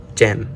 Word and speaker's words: 잼: J sound, E sound, and sound, gem.